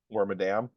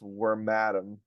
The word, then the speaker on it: Wormadam: bag worm and Madam which means that it's probably pronounced wor mam yeah wor atam that makes more sense well that makes more sense when we consider that all female burmes evolve into wormadam and all male burmes